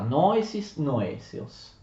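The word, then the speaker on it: νόησις νοήσεως: Famosa espressione greca di Aristotele, noesis noesios. L'accento si sposta, noesis noesios.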